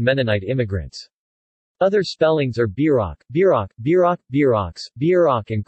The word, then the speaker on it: Bierock: Bierock, pronounced somewhere between Brock and Brook in Nebraska and Beer Rock in the Dakotas, the Rocky Mountain states, Kansas, and Oklahoma, is a yeast dough